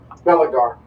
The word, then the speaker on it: Belagar: Belagar. Belagar? Yep. Spell it?